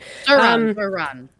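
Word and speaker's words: Zohran: it was I don't know if I'm pronouncing it right. Zohan or it was Zoran. One of the two. I'm so sorry. Zoran.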